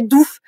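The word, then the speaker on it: doef: fait ça en nerlandais si vous écrivez o e ça se prononce ou comme o ou en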